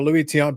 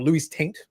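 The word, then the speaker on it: Luis Tiant: You get So I got a Louis Ton baseball or Luis Taint as it's correctly pronounced.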